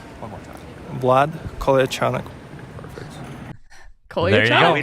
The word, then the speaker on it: Vlad Kolyachonok: And how is it pronounced? We have it right here. You got it? Vlad Kolyachonok. One more time. Vlad Kolyachonok.